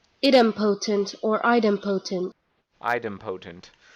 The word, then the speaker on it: idempotent: or item potent okay according to Emma saying this is item potent let me make sure I got that right item potent or item potent item